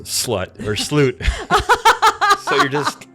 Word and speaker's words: slut: So the Swedish word for, I think, end or final is it's spelled S-L-U-T, and I believe it's pronounced slut. Okay. But obviously it looks like slut.